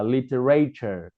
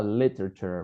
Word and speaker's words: literature: Ngày trước thì nhiều bạn hay phát âm là literature, và nhấn cho âm sai thì nó lại thành là âm ray, nhưng nó chỉ là âm r thôi, bởi vì nó không nhận trọng âm. Đây, nhấn cho âm vào âm số 1 nó sẽ là literature, và đây sẽ là temperature.